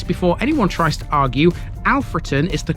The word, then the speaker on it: Alfreton: got history at seemingly every turn this is alfron and yes before anyone tries to argue alfron is the correct way to pronounce it the locals May refer to it in darbishire dialect as ulon or even the shortened version often but these